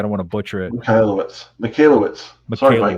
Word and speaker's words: Michalowicz: Michalowicz. Sorry, Mike. Michalowicz. I probably butchered it too.